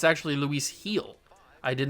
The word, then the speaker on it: Luis Gil: out I did finally figure out how to pronounce Luis Gil is how I was pronouncing it, which is wrong. It's actually Luis Gil.